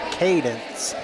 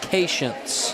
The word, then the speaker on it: Cadence: It's pronounced Cadence Edgerton. Cadence, not Patience.